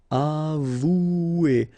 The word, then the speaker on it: avouer: Avouer, remember, O and U together, ou, avouer, avouer. Distinguer.